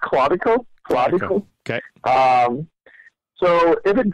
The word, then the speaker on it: Claudico: Because even, let's just say that, by the way, it's pronounced Claudico.